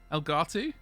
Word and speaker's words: Elgato: it's got an elgato elgato rhymes with mugatti uh stamp on it